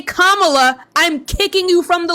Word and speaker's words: Kamala: It is not tomato. Her name is Kamala. If you do not say Kamala, I'm kicking you from the live.